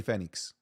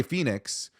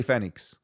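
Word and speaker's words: Fénix: e Phenix phix Phenix that's how you properly pronounce it Ray Fenix Ray Phoenix you could everyone says Ray Phoenix but it's Ray Fenix according to who to the literal Spanish language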